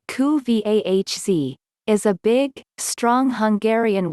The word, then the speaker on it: Kuvasz: The Kuvasz, pronounced koo-vahz, is a big, strong Hungarian working dog whose main task was originally to guard livestock.